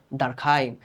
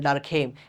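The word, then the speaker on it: Durkheim: না না ভাইয়া, তার নাম তো ডুরখেম। হ্যাঁ, বাংলাদেশে আমরা ইউ দেখলেই খালি উ উচ্চারণ করতে চাই। তার জন্ম যেখানে হয়েছে, তারে নিয়ে যেখানে পড়ালেখা করা হয়েছে, ইংরেজি ভিডিওগুলো যদি আপনারা দেখেন, দেখবেন যে তাকে সবাই বলতেছে ইমিল ডারখাইম।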